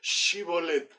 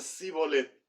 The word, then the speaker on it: Shibolet: Ellos no podían pronunciar Shibolet, ellos decían Sibolet, no les salía.